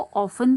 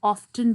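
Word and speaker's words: often: अच्छा, इसको ऑफन भी प्रोनाउंस करते हैं और ऑफ्टन भी करते हैं। I prefer ऑफ्टन because I like it, otherwise दोनों प्रोनाउंसिएशंस ठीक है।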